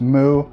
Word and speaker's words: MW: three we have mw or as it's actually pronounced mu this is the darkest hesika book that i read this was released between 1976 through 1978.